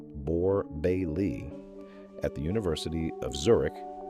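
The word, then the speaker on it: Borbély: In 1982, Alexander Borba, pronounced Borebe Bailey at the University of Zurich proposed a model that still governs sleep science.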